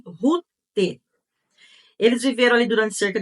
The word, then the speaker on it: Rute: o nome da outra era rut com temudo e nós pronunciamos Rute eles viveram ali durante